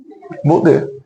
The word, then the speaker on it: Baudet: Dona Rose, por favor, a senhora pode pronunciar o... Baudet.